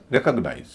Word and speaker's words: recognize: REC का उच्चारण री ना होगे, रे हो जाएगा। रिकॉग्नाइज, रिकॉग्नाइज नहीं बोलेंगे, रिकॉग्नाइज बोलते ही दूसरे पर स्ट्रेस आ जाता है, जो गलत है।